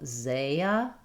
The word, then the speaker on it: Isaiah: Letter A saying the A and it's stressed. Letter S says the Z sound. So, you can start with a stressed syllable. Isaiah.